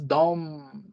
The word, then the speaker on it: de: concerns the third person it is pronounced as dom dom both i get always this